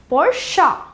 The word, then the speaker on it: Porsche: r f CH e or sa we commonly pronounced it as porsche sweet simple but wrong s key correct pronunciation here Porsche Porsche P o r sh e je c